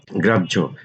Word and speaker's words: গ্রাহ্য: গ্রাহ্য, হয়ের পরে জফলা থাকলে প্রথমে বর্গের জ পরে ঝ আসে।